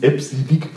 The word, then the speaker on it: EBCDIC: Es spricht sich übrigens EBCDIC aus, offiziell.